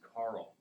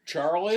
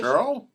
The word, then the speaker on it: Charl: Just Carl and then there's Charl, which is pronounced Carl.